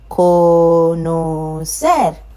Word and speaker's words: conocer: Any word ending with a consonant apart from N or S has the stress on the last syllable.